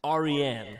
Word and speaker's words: Aryan: And it is a Persian name. It's pronounced Aryan. Persian.